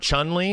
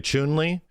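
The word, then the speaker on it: Chun-Li: guys ever noticed that it's not chun li it's actually chewnley whenever they actually pronounce her name in games like you know if it actually is from overseas it's chewnley it's weird i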